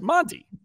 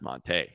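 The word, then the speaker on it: Montee: It says Monty. M-O-N-T-Y. Monty Ball. He gets into the league. It's Monte.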